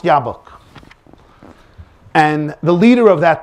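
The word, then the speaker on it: Jobbik: it's pronounced ja it's it's written jauk it's pronounced yabok and the leader of that party is a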